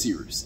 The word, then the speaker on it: Cyrus: My name is Cyrus. It's spelled like Cyrus, pronounced like. Just take out the tur.